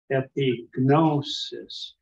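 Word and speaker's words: ἐπίγνωσις: And here he's given us epignosis. The gamma nu is a consonant cluster that can be pronounced, even though it's harder for us.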